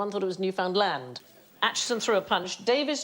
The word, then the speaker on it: Newfoundland: I think he said, oh, I did that murder in Newfoundland. No, it's Newfoundland! But actually, both men were right, because at the time, both pronunciations were perfectly acceptable.